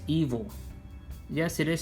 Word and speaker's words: Ivo: Ivo is spelled I-V-O, but it's pronounced evil. Yes, it is spelled Ivo, but it's meant to pronounce evil.